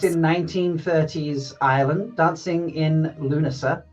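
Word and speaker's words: Lughnasa: 1930s Ireland dancing in Luna. You don't pronounce the G and the H folks if you want know that.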